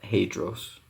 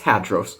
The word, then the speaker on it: Hadros: say that real quick not hadros although in the greek it does have a little anyways it's it does have a little um accent on the on the oh anyways it's hadros so with all that